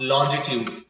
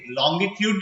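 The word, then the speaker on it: longitude: लैटिट्यूड and meridians of लॉन्जिट्यूड। देखिए ये लॉन्जिट्यूड बोल सकते हैं इसको, ओके, लॉन्गिट्यूड भी बोल सकते हैं, लॉन्जिट्यूड भी बोल सकते हैं, that depends upon your pronunciation practice.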